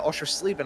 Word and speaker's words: Oschersleben: Oschersleben, I believe, is actually the correct pronunciation of that track.